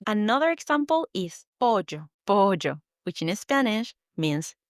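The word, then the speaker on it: pollo: Instead of llama, you say jamama because that double L makes a J sound. Another example is pojo. Pojo, which in Spanish means chicken. It's written P O L L O. But you should pronounce it bojo and not polo.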